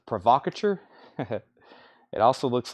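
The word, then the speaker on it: provocateur: he takes Foreigner agent I used to say provocator I found out that word is pronounced provocatur it also looks like provocator but provocature makes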